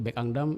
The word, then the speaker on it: Bekangdam: Bekangdam bacanya ya. Bekangdam. Saya selalu bilang Bekang gitu ya.